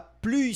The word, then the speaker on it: plus: Lembrando que aqui a gente pronuncia esse S. La plus simple.